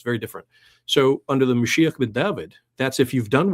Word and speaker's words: Mashiach: Mashiach is is our pronunciation for it.